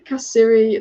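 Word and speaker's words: Kessié: in the first leg kessie is pronounced kasiri like kashi oh is it uh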